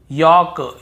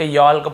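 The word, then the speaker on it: yolk: वॉक वॉक चॉक चॉक योक योक फोक फोक ऐसे पढ़ना है। कहीं पर भी talk वाल्क चाल्क योल्क फॉल्क नहीं पढ़ रहे हैं।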